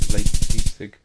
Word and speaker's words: Leipzig: Leipzig.